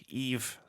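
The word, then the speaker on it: Yves: Eve. Like Christmas Eve.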